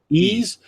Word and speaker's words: Ys: How do you pronounce this? Yeez or Wise? Ease.